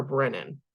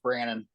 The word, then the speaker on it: Brandon: you say your name is it Brandon or Brennan I know I met I met you via email a while ago yeah it's just Brandon Brandon okay great thank